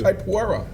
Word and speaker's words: capoeira: He is a brown belt in capoeira. Yes. False. I think It's that's pronounced true. capoeira.